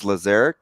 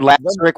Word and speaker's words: Lazaric: pronouncing his name correctly it is lazaric lazaric yeah yeah thank you if I heard last Rick one more time I was gonna pull